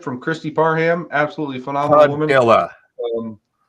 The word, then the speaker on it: Padilla: Absolutely phenomenal Padilla. woman. Like Tortilla, Padilla. I know, Padilla. I got it now.